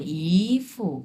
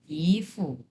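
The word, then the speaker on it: 姨夫: এটা হচ্ছে 2 number tone, ইফু, এরকম, ইফু।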